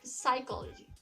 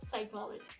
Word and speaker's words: psychology: little bit confused that how to pronounce this word as psychology or psychology. So now you know about this word. So it's better for you to not make this mistake of pronouncing this word as psychology. Say it as simple, psychology.